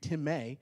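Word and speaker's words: τιμή: may to may now it looks like time i think on your on your screen but it's actually pronounced in the greek tim may and it's to value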